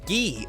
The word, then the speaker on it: Guy: Without further ado, it's Guy or Gee as a lot of people call him. Don't know why they do that. Maybe I missed the official translation.